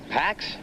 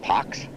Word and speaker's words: Pax: the right escalators is going to the dogs Pax it's from the Latin word piece it's pronounced PX is would you want a dog named pox yeah okay Pax 86 lbs of bone and